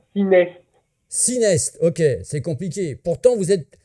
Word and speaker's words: Synest: C'est association Sinnes, je prononce bien ou pas? Alors, on t'a pas bien entendu, si tu peux parler un petit peu plus fort. C'est ciné. 6 mai. Non, ciné.